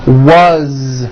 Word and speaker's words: was: As, you pronounce it with a voiced Z. As the phone rang. Was, which is a very common word.